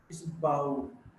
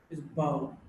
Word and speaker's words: bow: Now, when you bend forward to show respect to someone, it's bow. It's bow. Men bow, the women curtsy. So, bow to bend.